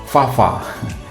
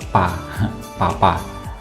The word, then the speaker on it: Fafa: Fafa. Ini sebagian orang bacanya Fa itu Pa, Papa.